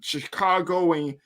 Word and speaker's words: Chicagoan: He was recently nominated for the Men of Excellence Award, the Chicagoan. That's how you say it. He's from Chicago.